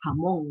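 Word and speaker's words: jamón: Bacanya itu kalau dalam bahasa Spanyol itu pelafalannya itu kayak hamong gitu.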